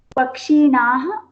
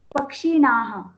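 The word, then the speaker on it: पक्षिणः: Pakshinaha. Read again. Pakshinaha. Pakshinaha. There is no dirgha.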